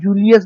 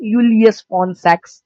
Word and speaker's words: Julius von Sachs: आप जूलियस बुलाओ पर यूलियस फॉन सैक्स इज the more appropriate pronunciation.